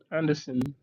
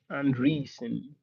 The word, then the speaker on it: Andreessen: In the essay, Anderson Andreessen, that's what his name, I need to spell it out right.